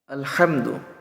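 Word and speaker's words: الحمد: সূরা ফাতিহার সঠিক উচ্চারণ আলহামদুলিল্লাহি রাব্বিল আলামিন আলহামদু অনেকে আলা পড়ে আলহামদু আল আলহামদু হামদু হা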